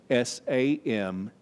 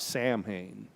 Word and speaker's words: Samhain: a pagan holiday called s-a-m-h-a-i-n it's not pronounced like it looks not samhain thanks to a facebook meme i can tell you that that gaelic word which means summer's end is pronounced samhain in ireland salween in